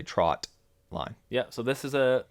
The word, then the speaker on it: trotline: to clarify that that it is not a trout line it is a trot line yeah so this is